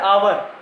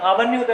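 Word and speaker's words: hour: आवर नहीं होता, इसका एच जो है वो साइलेंट रहता है, तो अपन उसको क्या बोलते हैं? आवर।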